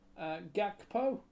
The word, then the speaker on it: Gakpo: next J in the ninth minute assisted by gakpo have I pronounced that name right G yes yeah okay